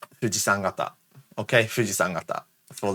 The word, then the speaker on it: Fujisan: Okay, Fujisan. Okay, because san is the other type of reading of Yama. Okay, it's not san as in Mr. Like Tanaka-san. It's Fujisan as in.